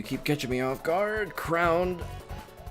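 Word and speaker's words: K. Round: It's it's it's crowned because he's crowned.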